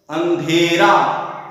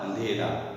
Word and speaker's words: अंधेरा: और यदि इसका शुद्ध रूप देखेंगे तो अंधेरा, अंधेरा, अंधेरा, अंधेरा, और अशुद्ध उच्चारण होगा अधेरा, अंधेरा, अंधेरा और अंधेरा। तो शुद्ध रूप इसका होगा अंधेरा।